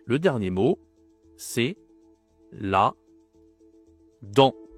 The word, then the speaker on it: dent: Et le dernier mot, c'est la dent. Pareil, le t on ne dit pas, on ne dit pas dente, on dit la dent.